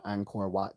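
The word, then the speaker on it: Angkor Wat: nen and she got to go to the Anor wat temples oh I did say it right AA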